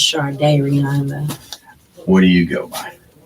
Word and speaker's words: Shardayreon: is pronounced it is close enough okay it's pronounced Char day Rihanna where do you go by um